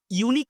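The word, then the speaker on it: unique: আ ইউনিক scene হলো দেখো এখানে ইউ থাকা সত্ত্বেও এ কেনা হলেও দেখো এই ইউ টা উচ্চারণ হচ্ছে কিসের মতন এই ইউ টা উচ্চারণ হচ্ছে ওয়াই ইউ বুঝতে পেরেছ ওয়াই ইউ এইরকম উচ্চারণ হচ্ছে ইউনিক্স সিং ওকে তাই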